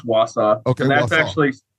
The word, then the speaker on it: Wausau: Wausau, is that how you say it? Wausau? Yeah, it's Wausau.